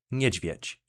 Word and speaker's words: niedźwiedź: An example of this digraph being used in a word is niedźwiedź, which means bear in English.